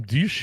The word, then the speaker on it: Diesch: have any gray pons no I have some dish here uh 6'7 300 lb 26 years old